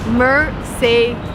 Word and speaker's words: Mercedes: car in the world is called mercedes remember mer say this is my mercedes it is a car